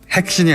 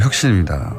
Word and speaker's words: 혁신: 핵신이 아니고 혁신입니다.